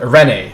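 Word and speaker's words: Eirene: irin yeah um uh arene that's that's how they pronounce it arene just going to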